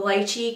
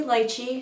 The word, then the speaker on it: lychee: never knew that the lychee cream corrector we'll say lychee I like to say lychee but we'll say lychee I think that's the correct way the correct pronunciation I'm a huge fan